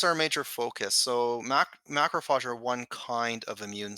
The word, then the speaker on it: macrophage: I saw on your website something called, and I probably will not pronounce it right the first time, macrophage?